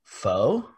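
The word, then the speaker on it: phở: wait griffin i'm uncultured isn't it foe for anybody that does not pronounce it faw it is spelled p-h-o foe uh and so that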